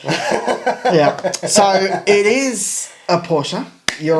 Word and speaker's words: Porsche: I'm going it's a Porsche no it's a porser por porer that's how they say it in German and that's always it's